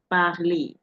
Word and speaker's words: parler: Parler. And the R is not pronounced in this case, even though the Frenchman doesn't drop his R.